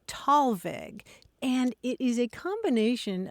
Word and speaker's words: Thalweg: It's usually pronounced Talweg, and it is a combination of two German words.